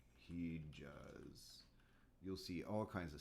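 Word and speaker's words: hicaz: this in the chat h i um c a z he j in a um let's see it sounds like j j in turkish in arabic they'll write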